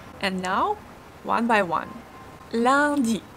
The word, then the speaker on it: lundi: Lundi. Here we have the nasal S sound. UN give us one nasal S sound. Lundi.